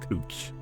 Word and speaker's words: Couch: We have a street in Portland that is spelled Couch and they call it Cooch.